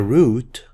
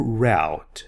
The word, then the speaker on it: route: The route or route, this word has 2 correct pronunciations.